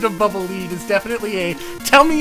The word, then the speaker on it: Bubble Lead: like no it's not bubble lead it's bubble lead because it's supposed to lead you you left your childhood